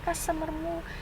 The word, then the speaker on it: customer: customer kita customer kita customermu Nah itu tulisannya itu ya Ini membacanya customer bukan u-ya ini dibaca a ya kalau bahasa Inggris itu